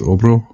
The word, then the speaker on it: Abhra: It's Abhra? Yes, that's correct. Yes. Thank you. Good. So because it's written as A's, and that's how my mother tongue uses pronunciation. A's are pronounced as O's, and it has been